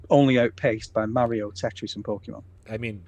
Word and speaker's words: Mario: Mario, and How do you say Mario? Mario. Mario. like car.